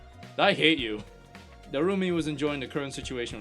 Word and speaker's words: Darumi: and over again cuz she name pronounces her name like Darumi. So just repeat that. Repeat the first name Darumi like how she would over and over again.